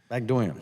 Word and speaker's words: Bagdoyan: Mr. Bagdoyan, am I pronouncing that correctly? Yes, sir, thank you. Bagdoyan, yes, sir.